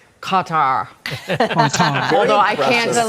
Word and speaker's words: Qatar: Or Lots of gutter.